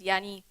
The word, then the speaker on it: Yanni: sounds similar and look similar but actually it's pronounced is Yanni so he's a Greek guy a very good